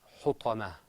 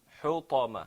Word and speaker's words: حطمة: That sound, حطمة, it's a ta sound. حطمة.